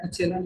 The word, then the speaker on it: echelon: আচ্ছা, এই যে আমি প্রোনাউন্স করছি ইকেলান, এটা কিন্তু কোনো কোনো স্যার ইচেলান বলে, তো যেটা বলবে সেটাই কিন্তু কারেক্ট। যদি তুমি মানে ফরেনার যদি প্রোনাউন্সিয়েশন দেখো সেটাকে ইকেলান বলা হয়, মানে এর প্রোনাউন্সিয়েশন। আর যদি আমাদের ইন্ডিয়ান প্রোনাউন্সিয়েশন দেখো তো এটাকে ইচেলান বলে। কোনো অসুবিধা নেই, যেটা খুশি বলো।